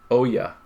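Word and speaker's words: olla: your garden archaeologist so you're going to say a word like OAS and you're not going to spell it o l l a Oya so archaeologists have found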